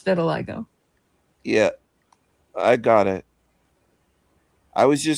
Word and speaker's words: vitiligo: vitiligo, I think. I don't know how to pronounce Vitiligo? it. Vitiligo.